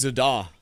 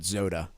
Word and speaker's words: Zodda: It's pronounced Zada. Sounds good. Yeah, we're moving the accent to the other So when I call you on my uh voice command in my car, I have to pronounce it Zoda to get it to